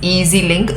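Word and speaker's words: EZ-Link: transport card called the Easy Link transport system where we have a card, an easy link card, EZ EZ link. Okay. So we pronounce it as easy link.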